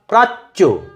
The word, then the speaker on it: প্রাচ্য: এর উদাহরণ প্রাচ্য, পয়রফলা আকার, চয় জফলা প্রাচ্য। কিভাবে উচ্চারণ করব? প্রাচ্য, প্রাচ্য। চকে দুবার উচ্চারণ, একটা ছোট চ একটা বড় চ। প্রাচ্য। বর্গজয় জফলা জ, বর্গজয় জফলা জ।